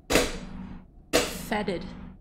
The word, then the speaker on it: foetid: The foetid, foetid? Is that foetid? Fetid. Fetid? Mm-hmm. That's pronounced fetid?